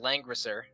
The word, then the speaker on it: Langrisser: I don't have it up, but it's pronounced Langrisser.